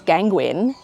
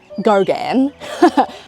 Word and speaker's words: Gauguin: He knew this other guy who I thought was Gauguin. I thought that's how you pronounced it. It's Gauguin.